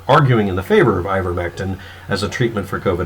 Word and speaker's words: ivermectin: this is in your statement about ivermectin its ivermectin is the preferred pronunciation for the word ivormesten is also a pronunciation in a couple of